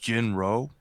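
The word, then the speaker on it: Jin-Roh: I think it's I I think it's pronounced Jinro the wolf Brigade ji n - ROH it sounds familiar I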